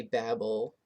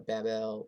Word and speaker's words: Babel: back of my head that's how he pronounces it in the song i say babble or babel but um look that